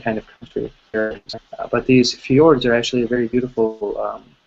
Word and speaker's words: fjord: structures in Norway called fjords right it's pronounced fjord in the in the Norwegian language in English someone who